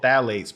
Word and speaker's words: phthalates: They're called phthalates, but it's spelled with a P. P-T-H-L-A-T-E-S.